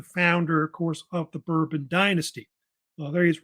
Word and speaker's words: Bourbon: And he was a descendant of this duke named the Duke of Bourbon, which they actually pronounce it Bourbon, so they say in France.